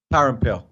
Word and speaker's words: Parampil: Parampil. Okay, I got it. So I'm going to play. Parampil, kind of. Parampil.